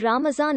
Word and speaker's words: Ramazan: In the Persian language, the Arabic letter is pronounced as Z. Some Muslim countries with historical Persian influence, such as Azerbaijan, Iran, India, Pakistan and Turkey, use the word Ramazan or Ramzan.